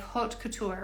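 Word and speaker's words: haute couture: word and you're like how do I really say it like hot Couture right so we're thinking of French Couture hot okay so here we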